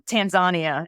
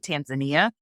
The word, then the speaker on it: Tanzania: So, my husband and I just got back from Tanzania, as the locals pronounce it. We in the States call it Tanzania.